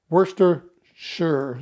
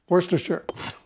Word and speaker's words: Worcestershire: this Lea and pearings that I never can pronounce that Worcester sure sauce Worcestershire so we're going to add a little bit